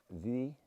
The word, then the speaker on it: Buidhe: So Meall Buidhe, or I think it's spelt BH, so and then BH is in Gaelic's normally V.